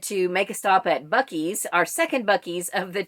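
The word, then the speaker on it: Buc-ee's: know what bucky's is look it up b-u-c dash e-e-s that's how it's spelled it's huge so by the time we stopped at bucky's and then i had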